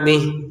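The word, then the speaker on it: بِهِ: lalu dipanjangkan dua harakat bihi kita baca bih karena berhentna bih gitu kalau mau dilanjutkan dia akan terbaca harakatnya nya dua harakat.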